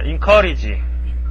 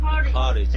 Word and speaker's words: encourage: 자, encourage. encourage. 예, in으로 해도 되고, n으로 해도 되고, 발음은 두 개 다 있습니다.